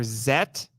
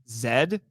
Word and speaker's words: Z: All right, then you get Ultraman Z or Zet, because everywhere else in the world that letter is pronounced Zed or Zet.